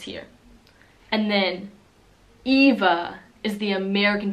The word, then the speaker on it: Eva: other good friend here the V is pronounced like a F slightly like Ava Ava with an A is really common in the u.s. right now for teen girls and then Eva oh wait I said